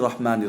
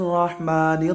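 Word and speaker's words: الرحيم: করতে হবে তুলতে হবে তারপরে আপনার রাহিমের মধ্যে ইয়ামাদ্দা আছে ওখানে আপনার এক আলিফ আলহামদুলিল্লাহি রাব্বিল আলামিন আপনারাও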